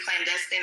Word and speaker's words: clandestine: you read cuz you actually mispronounced clandestine earlier. It's literally clandestine.